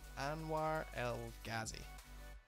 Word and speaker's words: Anwar El Ghazi: this chap I don't even know how to pronounce his name and where Anwar El Ghazi that's exactly how you say it and if